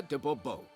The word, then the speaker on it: de Bobo: better yet as Monsieur de Bobo oh whatever customers always right fine Monsieur the boerbo the emphasis falls on the last syllable see now I'd rather